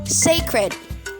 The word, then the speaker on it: sacred: wisdom yes wisdom so this word has two syllables the first syllable is say say and the second is cred cred so you say sacred sacred right sagrado in